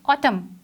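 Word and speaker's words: autumn: एच इज़ a silent letter. Next word is ऑटम।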